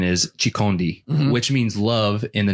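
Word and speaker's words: chikondi: my wife let me forget that the correct pronunciation is shikhandi which means love in the native language of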